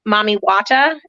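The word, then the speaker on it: Mami Wata: a and heather maybe correct me on my pronunciation mommy wata is that how they were pronouncing it yeah okay so as a mommy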